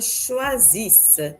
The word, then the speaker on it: choisissent: Louis et sa femme choisissent la Maison Bleue. Choisissent, the ENT at the end is not pronounced.